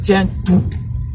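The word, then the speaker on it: centru: En roumain, c'est tiens tout. Ça s'écrit comme en fait Saint-Tru. Saint-Tru, si je prononce en français, c'est Saint-Tru pour dire centre.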